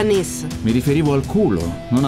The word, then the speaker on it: Nice: Nice. Si pronuncia Nis.